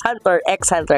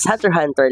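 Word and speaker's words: Hunter × Hunter: tawag namin noon is Hunter x Hunter Kasi nga may x sa gitna so tawag namin Hunter x Hunter but Actually it should only be Uh Uh pronounced or said as Hunter Hunter lamang so dito sa ating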